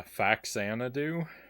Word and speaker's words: Faxanadu: a z sound but the title is a combination of the word famicom and xanadu if i not mistaken so fuzzanadoo makes more sense to